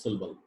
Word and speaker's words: syllable: phonology the next word most of the indian speakers say this is a syllable which resembles to syllabus it is syllable the exact pronunciation is syllable it is a single